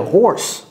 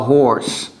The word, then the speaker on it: horse: I'm so hungry I could eat a horse. Les francophones, ceci n'est pas hungry, hungry, non. C'est hungry. I could eat a horse. Et ce n'est pas horse, c'est horse. Prononcez le H.